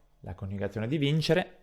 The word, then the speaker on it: vincere: Ad esempio, vincere. L'accento tonico all'infinito si trova sulla I e ricopiamo il